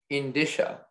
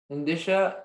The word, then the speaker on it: indicia: Your word is indicia. May I have all the information? Indicia is can also be pronounced indicia, and it's a noun.